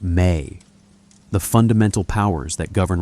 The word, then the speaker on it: me: He holds the mi pronounced may.